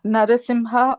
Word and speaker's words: Narasimha: m a m i h a they both pronounced Swami it's narasimha or Nim Nar simha okay very good thank